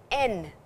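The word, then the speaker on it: 円: on the stem and is pronounced as n in the language it also means circle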